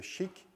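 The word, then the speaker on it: SCHC: is based on the chic and make a static context at a compression as you can see it's pronounced Chic it's a technology which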